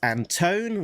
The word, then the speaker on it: Antone: Pat Brousseau, and editor Alex Antone, rhymes with phone, assistant editor, this is